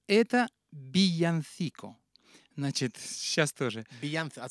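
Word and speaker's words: villancico: И вот эти песни называются «Биянсико». По-испански «вилла» — это «бия». Вот, двойная «л» читается как и краткая.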